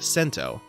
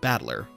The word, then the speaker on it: Battler: hito ri and to anyone encountering the unique name spelled like this would probably try to read it as something like sento no one would guess that he is called battler not only is the